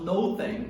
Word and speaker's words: nothing: Mais uma vez, retomando o som do TH a gente pronuncia com a língua entre os dentes.